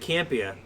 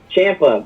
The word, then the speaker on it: Ciampa: I said Campia. Ciampa, bro. Ciampa. Ciampa. There's no H.